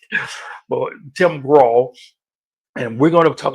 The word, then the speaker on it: Grahl: I believe his last name is pronounced Grahl. So I'm not sure if that's exactly right, but, but Tim Grahl.